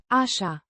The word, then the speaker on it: așa: Pronounced. A-sha. With the stress on the first syllable and a distinct She. sound.